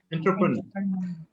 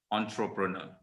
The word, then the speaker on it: entrepreneur: one is ontro prono entrepreneur okay it's originally a french word uh rather than english words so it's entrepreneur the time okay